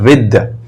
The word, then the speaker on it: with: इसको विथ नहीं बोलेंगे, इसका क्लियर प्रोनाउंसिएशन होता है विद।